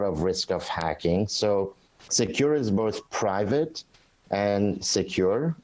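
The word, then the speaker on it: Sekur: us why great well secure which is spelled s-e-k-u-r is our email and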